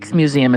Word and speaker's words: Rijksmuseum: Rijksmuseum is actually how you would pronounce that, I think.